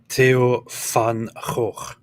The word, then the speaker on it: Theo van Gogh: It's just the pronunciation is Theo van Gogh.